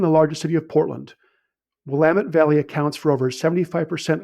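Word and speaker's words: Willamette: but the focus of Oregon wine is the Wamut Valley with Pino Grapes. And it's pronounced WamiT, damn it.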